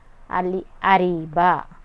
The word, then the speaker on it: Ariba: अब आएगा third name है जो हमारा अरीबा।